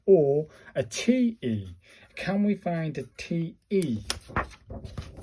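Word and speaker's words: て: Pronounced just like the T in 10, so it's a te.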